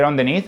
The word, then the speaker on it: underneath: Underneath apparently is a word that I don't know how to pronounce because I say underneath and people thought that it's on the knee. It's underneath.